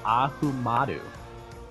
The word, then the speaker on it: Ahumada: I should have actually, before I said this, it's Ahumada. It's like, what's the easiest pronunciation? Ahumada. Like, what's the matter with you?